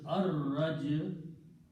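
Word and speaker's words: الرَّجْعُ: And again al will remove one dhamma and it will be pronounced as ar-raj'u.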